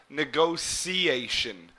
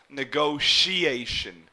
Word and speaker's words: negotiation: places I pronounce it negotiation where this T here would almost be pronounced like an S or a/c negotiation but you may also hear people pronounce it as negotiation like an SH down